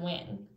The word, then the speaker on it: when: how we pronounce when even though that h is there we don't hear it in the word when but in the video